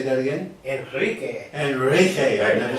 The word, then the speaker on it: Enrique: Enrique.